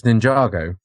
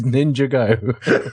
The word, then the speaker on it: Ninjago: have to interject and and say it's Ninjago yeah I think it's Ninjago right that's sorry I don't mean to be pedantic but never heard of it pronounced as ninj Go I mean on on